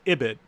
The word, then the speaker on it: ibid: this you can write ibid pronounced Abbot right means in the